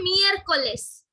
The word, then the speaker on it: miércoles: Next one is miércoles. That is Wednesday. Wednesday, okay? Wednesday is miércoles. You also have to write, also repeat after me, okay? So that the pronunciation gets better. Say miércoles.